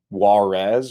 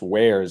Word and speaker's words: warez: Um, as is pointed out in chat, Warez or I think it's pronounced wares actually wz to the Zen zones was blocked by Barry's play of drama which wouldn't have been blocked by UMAK.